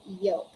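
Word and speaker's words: yolk: fall we say folk we don't say yo we say yoke those are the examples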